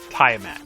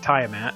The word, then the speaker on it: Tiamat: That's how I'm pronouncing it. Tiamat. If you don't like it, tough. That's how it's getting pronounced.